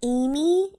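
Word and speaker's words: Aimee: is your name not Amy am Y no but it sounds the same how do you spell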